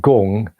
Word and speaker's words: Gong: It's more like Gong. G with 2 O's, NG is probably a better way of pronouncing it.